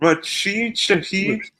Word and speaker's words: Rashid Shaheed: Rashid Shaheed.